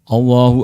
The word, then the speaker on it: Allah: Allahu Akbar memang bacaan atau huruf lam dalam kalimat Allah dalam kata Allah itu dibaca tafkhim tebal nah kadang sebagian orang di masyarakat kita kan ada beberapa kesalahannya ada yang baca Allah Allah dan itu berarti masih tarqiq masih tipis harusnya agak tebal Allah nah sebagian orang terus